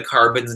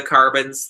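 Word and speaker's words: Karbonz: I would highly recommend the carbons they're spelled with a k k a r b o NZ by knitter's Pride um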